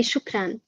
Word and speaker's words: shukran: to say it so in arabic we say shukran okay so chocran i think and have